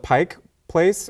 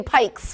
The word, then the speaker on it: Pike Place: Pike Place Market yeah do you call it Pike Place or Pikes I know how to say it okay I know I'm a transplant I moved up here from Southern California a couple years ago but I've always said Pike Place but it's an ongoing debate on social media not even a debate people just say it wrong they do all the time they say Pikes if they say Pikes